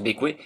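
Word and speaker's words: Bequia: Après une petite journée de navigation, on arrive à Bécoué, et oui, ça se prononce Bécoué, pour faire les formalités d'entrée au pays.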